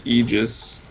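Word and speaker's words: Aegis: that uh Ro respawning it's actually egis but it sounds stupid so no one says it um yeah reclaimed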